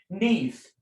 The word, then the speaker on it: Neith: We're going to get the pronunciation of this word, of this particular goddess. Neith.